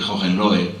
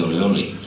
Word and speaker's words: Hohenlohe: que era Leopoldo de Hohenlohe, que aquí, como pronunciaban bien el alemán, decían Leopoldo de Ole Ole, ¿no?